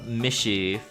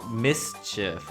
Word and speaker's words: mischief: actually pronounce it cuz with the s right there from German, you would totally think it's just a shh. But no, it's mischief and not mishy.